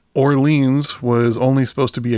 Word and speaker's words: Orleans: wondered is it Orleans from hearing band members pronounce the band name it's Orleans but yeah I got to say it's funny